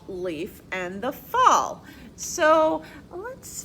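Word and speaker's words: Leif: If we talk about this kind of leaf, it's spelled L-E-A-F. But here when it's spelled L-E-I-F, that is a person's name.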